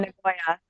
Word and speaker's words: Nagoya: How do you pronounce that city or that Oh, marathon? Nagoya.